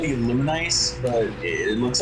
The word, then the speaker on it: Lunice: that uh v v characters last name is pronounced lunice it's kind of the same way how my